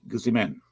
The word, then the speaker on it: Guzman: And he pronounces his name Guu space Z-E, Guzman.